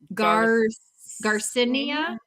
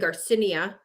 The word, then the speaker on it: Garcinia: So all of them are taking out the last I. They're not pronouncing that. So I was saying Garcinia, but they're all saying Garcinia, right?